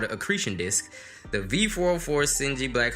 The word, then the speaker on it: accretion: The accretion rhymes with secretion.